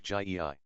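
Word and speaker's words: Gy-ei: The word for woman is gy, pronounced hard, as in guy, it forms itself into gyei for the plural, but the g becomes soft in the plural, like gyei.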